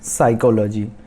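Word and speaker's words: psychology: फिर आते हैं साइकोलॉजी। P जो फर्स्ट लेटर है P वो साइलेंट है।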